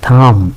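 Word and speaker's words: thumb: এই নাইফের খেয়াল করবেন কে উচ্চারণ হয় না। আপনারা জানেন থাম।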